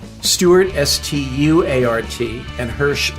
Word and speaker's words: Hersh: Stewart St uart and Hirsch like Hershey everybody wants to spell